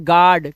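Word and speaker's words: guard: अब यहां पर हम पढ़ेंगे यू साइलेंट कब होता है? यू के बाद कोई अगर वोवेल होगा तो यू हमारा साइलेंट होगा। अब यहां पे देखिए यू के बाद ए लगा हुआ है। तो इसे हम पढ़ते हैं गार्ड।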